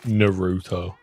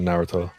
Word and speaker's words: Naruto: Yeah, it annoys me too when people say like Naruto instead of Naruto.